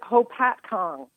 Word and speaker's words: Hopatcong: you well I'm doing great and is it poppet Kong New Jersey how do you pronounce it we pronounce it Hopatcong hopatcong all I know is that you mentioned